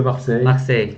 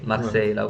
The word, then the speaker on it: Marseille: 한국에선 마르세유라고 하는데 프랑스에서는 On peut dire Olympique de Marseille. 막세이라고 네, 한다는 거. 막세이.